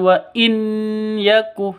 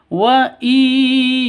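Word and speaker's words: وَإِن يَكُ: Cara bacanya masuk ke ya disertai dengung 2 ketukan. Karena idgham bi gunnah, masuk dengan dengung begitu. Wa nah seperti itu ya cara bacanya. Langsung masuk ke ya, bukan wa in yaku, tapi yang betul wa iyyaku begitu. Wa iyyaku kadziban.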